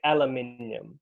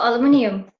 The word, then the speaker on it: aluminium: In Commonwealth English, we would say aluminium. It's a type of metal. Oh, aluminium.